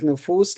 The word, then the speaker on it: نفوس: We saw that nufus looks like nujum, rhyme with nujum.